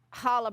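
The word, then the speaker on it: challah: So there is a recipe in your handout for hala bread. You're going to say it right. You got to hawk up a furball.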